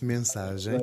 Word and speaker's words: Mensagem: You say Mensagem, is that how it's pronounced? Yes, Mensagem.